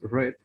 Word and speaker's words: read: It's the same, but you have to pronounce red in the past.